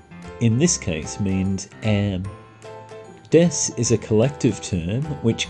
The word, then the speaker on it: desu: We never pronounce the U in desu. We simply say it as desu, not desu.